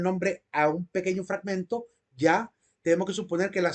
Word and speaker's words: Yah: yahvé no es una no es una simple es es ya no es un viejo no es un yajo ni es un Yahoo ni eso ninguna otra forma o sea es una ya sin ninguna otra consonante vocal después de la consonante Hey o la H entonces dado que solo